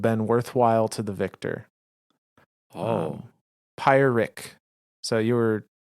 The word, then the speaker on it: Pyrrhic: Pyrrhic. So you were correct about the pronunciation.